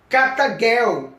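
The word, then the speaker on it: καταργέω: destruí a like lá vinda do original grego é pronunciada carta Girl cata Girl que significa tornar ineficaz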